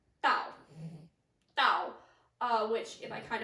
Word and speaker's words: Dao: So in China, this symbol, that symbol, is pronounced Dao.